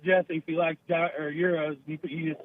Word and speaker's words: gyros: just uh correcting him it's euros euros not gyros oh gyros we we pronounce it gyros or uh heroes or something like that ah those greeks with